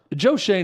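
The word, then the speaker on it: Joe Schoen: Giants uh Joe Shane yeah that how you pronounce his name so Joe Shane and the Giants here's the problem with all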